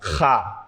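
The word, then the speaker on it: خ: আচ্ছা, এরপর হা, খ, এখানে লেখা আছে খ, এটা মোটা হবে, অর্থাৎ আমরা বলতে পারতাম খা, খা হবে না, হবে খ।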